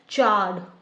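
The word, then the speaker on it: chard: इसकी आपकी प्रोनाउंसिएशन में आर वाला तो साउंड आ ही नहीं रहा है, आप यहाँ पे देखो इसलिए मैंने लिखा है चार्ड, आर नहीं आ रहा है, ओनली आ रहा है, अ चार्ड, ठीक है।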